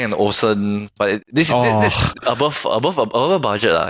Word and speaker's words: Olufsen: Then after that, at the side there's usually my dream one is actually the Bang & Olufsen, but this above budget lah.